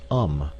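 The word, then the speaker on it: homme: a piece of bark he learned from darno that it was pronounced um and in the same way he was taught to pronounce ape San and tree AR he was a most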